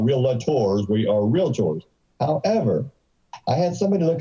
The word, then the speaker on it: realtor: that's right thank you you don't hire a relator you don't go to a daca tour it's